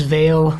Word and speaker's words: vale: and I belong as Vale like Val valet Nathan will be pleased to hear that I got that pronunciation correct but Nathan from flight